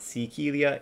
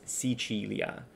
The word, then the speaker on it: Sicilia: It's just pronounced a little different. It's not Sicilia, it's Sicilia.